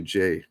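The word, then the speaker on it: Ghey: So last week in the UK, the Brianna Gay case came back. I might be pronouncing her last name. From what I understand, it's actually Jay.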